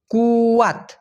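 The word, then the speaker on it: kuat: ব্যবহার করা হয়ে থাকে কে ইউ এটি উচ্চারণটা হবে কুয়াত কুয়াত মানে কি কুয়াত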